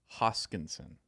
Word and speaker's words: Hoskinson: matic any of your thoughts t shroom charles hoskinson is the current it's the correct pronunciation yes charles hoskinson it i got it